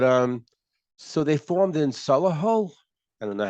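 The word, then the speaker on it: Solihull: but have but um so they formed in Salah Hall I don't know how you pronounce that s-o-l-i-h-u-l-l English rock band 1989.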